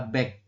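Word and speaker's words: 백: Angka 100 ini dibacanya adalah back 100 ya.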